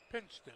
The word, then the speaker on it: Pinchton: Pinchton, okay. Doesn't look like that, but that's what they pronounce it.